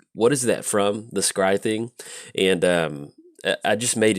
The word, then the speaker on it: scry: be like, hey, Jolt, it's actually scry, not scurry.